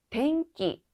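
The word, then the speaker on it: 天気: 자, 앞에 있는 요 한자는 바로 날씨입니다. 읽는 방법 주의하셔야 되는데요. 덴기, 날씨는 덴기라고 합니다. 만약에 덴기라고 등장했을 때는 전기를 나타낸다.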